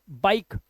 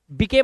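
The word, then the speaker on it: bike: तो इसे हम पढ़ेंगे लाइक, लाइफ, शेयर, शेरे नहीं, मिके नहीं पढ़ना है, माइक, ई भूल जाओ, बाइक, बिके मत कर देना, बिके, फटे, फटे नहीं है, सिर्फ फैट, सिर्फ क्या है?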